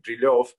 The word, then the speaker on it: Brilev: Ah, well, my problem is that, you know, everyone knows me as Mr. Brilev, Dr. Brilev, although in Russian it is, of course, pronounced like Brilev, but I'm so used to